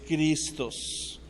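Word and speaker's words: Χριστός: ahí atrás de mí vas a ver el nombre de Cristo primero en griego como se escribe en griego y después como se pronuncia que es cristos ahora si tú eres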